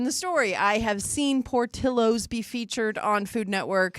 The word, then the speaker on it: Portillo's: Phonetically, it's Portillo's. The double L asks is. anybody who speaks Spanish, It Portillo's. is. So you can pronounce it incorrectly all you want, even though you say it incorrectly in Chicago, whatever. That's Portillo's. Really? In Spanish, it is Portillo's.